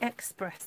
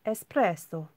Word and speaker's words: espresso: linda espresso just realized linda you called it express though that's what i used to say is espresso got to say it like you know italian well they're trying to